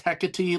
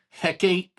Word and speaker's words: Hecate: You didn't know that it's pronounced hecate. Like you didn't you didn't think saying the dialogue when you said heckate that that sounded a little weird.